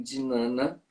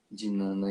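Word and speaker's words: Jnana: j que é isso algumas pessoas falam de Nana de Nana yoga é j n a n a dinana yoga tá porque eu tô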